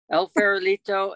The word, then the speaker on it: El Farolito: operate el farolito bed and breakfast am i pronouncing this correctly that's correct el farolito and we also have the four kachinas ah